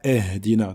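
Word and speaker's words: اهدنا: Donc on ne dit pas ihdina, donc ce n'est pas le son e que l'on retrouve en français, mais le son i. D'accord, ihdina, ihdina. D'accord, il faut bien prononcer la lettre i.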